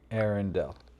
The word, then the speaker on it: Arendal: The emphasis is on the first syllable, with air sounding like the word for the atmosphere, followed by a short N sound, and ending with Dell, like in Dell Computer. Arendal.